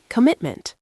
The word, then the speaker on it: commitment: 3 syllables, stress on the second. Commitment.